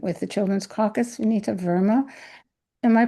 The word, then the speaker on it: Verma: of her involvement with the children's caucus, Venita Verma. Am I pronouncing your last name right, Venita?